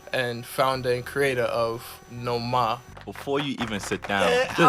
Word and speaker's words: Noma: We're here with Amon, creator and director of Noma NY. I'm pronouncing it right, correct?